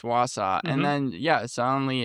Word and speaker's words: Wausau: I didn't know how to pronounce it, but yeah, I Wausau? think yeah, I think it's Wausau, and Mhm.